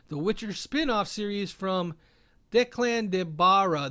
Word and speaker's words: Declan de Barra: witcher spin-off series from declan de barra there we go that's how you say it and lauren smith his